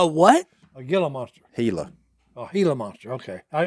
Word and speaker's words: Gila: then they got a what a yellow monster hela oh gila monster okay i i always said gilla okay well that's how it's spelled well i know i pronounced it like